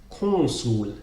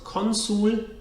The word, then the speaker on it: consul: Republic how would you pronounce him this is pronounced chrono soon it's not consul it's cool kwang-soo and then the ultimate example